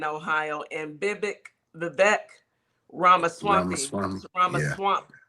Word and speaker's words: Ramaswamy: Um it looks like Amy Acton won her primary in Ohio and Bibbick Vivek Ramaswamy Ramaswamy You said it right, Swamy.